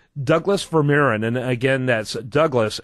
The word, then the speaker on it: Vermeeren: out at his website and again it's Douglas veran ver verir excuse me and ver yeah is spelled v r I bet bet the way